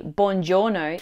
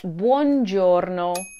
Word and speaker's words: Buongiorno: seven Italian words I beg you to stop mispronouncing Andiamo don't say Bongiorno it's Buon Giorno it's not makina put the stress on Ma